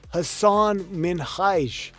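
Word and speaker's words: Hasan Minhaj: “It’s pronounced Hassan Minhaj!“ Hassan and Ellen bonded on having their names mispronounced by people.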